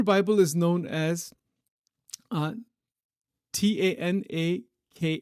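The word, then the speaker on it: Tanakh: is known as uh t a n a k h k h tanak I think maybe that's how it's pronounced is traditionally divided into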